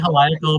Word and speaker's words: Heliacal: I say Heliacal. Helical, but I think it Heliacal. could be pronounced either way.